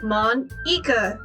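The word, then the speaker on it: Monika: it's writing your name mon eka this is how you say my name at all also thatcher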